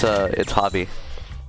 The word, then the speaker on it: Hovie: It's Hovie. Hovie? Hovie, like Javier.